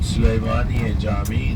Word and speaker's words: Süleymaniye Cami: That's called Süleymaniye Cami in Turkish pronunciation.